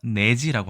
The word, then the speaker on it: 乃至: 넷 자와이를 g자로 보이죠 그래서 내지라고 합니다 내가 장음으로 발음 된다면 내지 이렇게 되겠죠 내지가 과연 무엇일까요 자